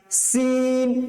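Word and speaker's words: س: তাহলে প্রথমটা মৌমাছির মতন আওয়াজ, জা জা জা, তারপরেরটা সিন সিন সিন, চিকন করে আওয়াজ বের হবে, টায়ার পাঞ্চের যেরকম আওয়াজ হয় সিন।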